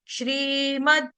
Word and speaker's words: श्रीमद्: lip sync ध्यान से देखेंगे श्रीमद् भागवत महापुराणम श्रीमद् भागवत महापुराणम श्रीमद में द हलंत आधा द उसको मैं ऐसे नहीं गाया श्रीमद द ये नहीं गाया श्रीमद् भागवत भागवत का